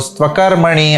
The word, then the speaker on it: स्त्वकर्मणि: You can pronounce it as astu akarmani. Okay? Or okay, Mate sango stvakarmani. ऐसा भी बोल सकते हो. Stvakarmani. Join it together.